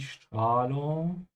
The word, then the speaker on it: Strahlung: Und die Strahlung is radiation. Again, with the S before a T, it's pronounced like sh.